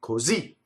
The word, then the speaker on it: così: and became truncated, or just end on the last syllable, right? So that's the ultimate stress, like così.